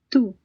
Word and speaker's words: tú: So, the Spanish U is pronounced like the UE in the word due, except that the sound is shorter. Right, let's see. Listen to these words and note how the vowel sounds are all short, crisp, and pure.